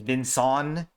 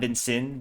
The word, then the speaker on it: Vinson: say my name is Vinson, not Vincent, but Vinson? Oh my god, Vinson. What? That's not right. Wait. Vinson, like Jason. Okay. Wait, it's spelled Vinson, like you say like Vinson, like Jason, Vinson.